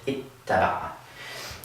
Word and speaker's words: اتّبع: we do this, where again, we double the ta, we add a shadda above it, and wind up with ittaba'a.